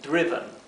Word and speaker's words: driven: con tantas excepciones fonéticas Esto se debe pronunciar driven bien y no es